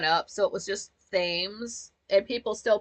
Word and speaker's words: Thames: Uh, the Thames, which it's cute because that's not a word you're gonna really know how to pronounce until you like go up into the world.